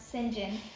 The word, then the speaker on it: St John: and singen or St John but apparently it's pronounced singen and they take her in and they ask